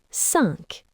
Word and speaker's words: cinq: cinq It's a little bit nasal.